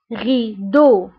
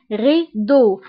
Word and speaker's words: rideau: بالنسبة ل E A U يعني هنا عندي 3 فويل، E A U كيتنطق ب O O. example rideau donc O rideau.